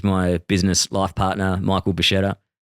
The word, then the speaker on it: Bascetta: Uh I'm your host, Leon Kennedy, and with me today is my business life partner, Michael Bashetta. Nailed the pronunciation on your surname.